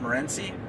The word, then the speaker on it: Morenci: a private spot in mount morenci i think we pronounce it mount morenzy michigan um buddy of mine